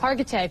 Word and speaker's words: Hargitay: by the way okay all right well mirzka Hargitay I'm saying it right Hargitay perfect okay perfect thank you very much for